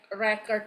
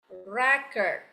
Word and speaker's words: record: And then as a verb, it's pronounced it's spelling the same but pronounced differently. Nah, kemudian untuk kata record ini untuk bahasa kata benda itu pengucapannya adalah record.